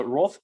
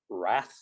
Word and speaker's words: wrath: of surfers right so roth basically means a few pronunciations of wrath there so it's roth um wrath if you're american i guess but roth